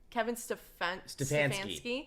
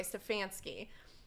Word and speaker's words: Stefanski: Kevin Stefanski. Yeah. Okay, Stefanski.